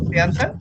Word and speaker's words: Shayantan: Am I correctly pronouncing your name, Shayantan? That's Shayantan. Huh? Shayantan. Shayantan. So it should be with an Yes. H. You have put Sayantan. So Shayantan should be the actual spelling, so I can pronounce